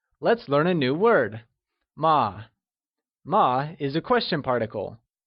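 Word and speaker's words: 吗: learn how to pronounce ma as a question particle ma is pronounced using a neutral tone which carries a soft falling sound as if the sound is fading away can you try and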